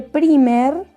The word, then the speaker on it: primer: Se escribe primer, así, pero se dice primer, ¿sí? Como en wipes, que o sea, se escribe wipes y se dice wipes. Bueno, en este caso la I suena de la misma forma, ¿sí?